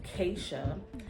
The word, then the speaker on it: KSHA: So the K is for the first letter in my first name, and the SHA, S-H-A, is the first three letters in my middle name. So it's pronounced KSHA.